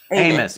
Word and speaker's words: Amos: Yeah, it's pronounced Amis. Amos.